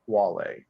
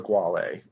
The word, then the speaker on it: Guale: introduce them the Wale it is spelled with a G but is pronounced Wale um and the emsc obviously looks normal but um they're not the gualee they're the Wale so always remember that